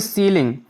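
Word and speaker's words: ceiling: देखिए सीलिंग।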